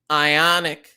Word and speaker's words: IonQ: Ionic rhymes with Sonic down 5%.